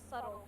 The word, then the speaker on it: subtle: The word subtle has a B in it.